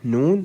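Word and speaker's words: نون: Okay, as we said in a previous episode, the way to pronounce Noon, you just let the tip of the tongue touch the upper gum behind the upper incisors, like this, N.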